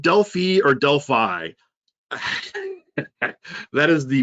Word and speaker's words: Delphi: Delphi, which actually I've been talking to some MVPs about getting some updates on here.